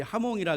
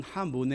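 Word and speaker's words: jamón: 여러분 혹시 스페인이란 나라의 별미 하몬에 대해서 들어본 적이 있나요? 우리나라에 처음 번역될 때 하몽으로 번역이 돼서 사람들이 하몽이라 그러는데 원래 발음은 하몬에 가깝다고 해요.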